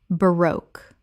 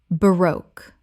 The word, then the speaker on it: baroque: debut debut Word 129, baroque Common mispronunciation, baroque Correct pronunciation, baroque Two syllables with the stress on the second. It rhymes with spoke. Example, the baroque architecture of the cathedral